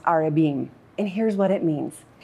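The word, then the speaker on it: ארבעים: in Hebrew it's pronounced arabin and here's what it means 40 is a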